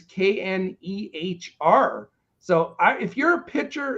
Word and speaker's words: Knehr: It's Reiss, and then his last name is Knehr.